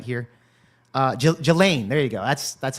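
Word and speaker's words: Ghislaine: Can somebody put a pronunciation in the chat so I know I can get it right here? Uh Jelain, there you go. That's that's how you say it. Gelain Maxwell should testify and and Pan Bondi must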